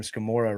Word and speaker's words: Scamurra: And we joked a long time ago, Hayley, I'm going to bring this one back, that your last name Scamurra rhymes with Gamora.